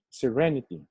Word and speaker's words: serenity: Okay, the second vowel in the first word, okay, is long, serene, in. The same vowel in the second word is short, serenity, serene, serenity.